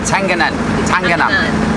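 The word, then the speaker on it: Tenganan: Tangana.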